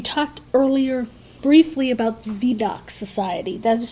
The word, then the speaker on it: Vidocq: Now, we talked earlier briefly about the VDOC Society. That's spelled VIDOCQ.